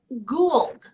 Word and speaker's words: Gould: And I said your last name wrong. It's Gould. I said Gould. Gould. It's Gould. It's Yes. okay. Everybody makes that mistake.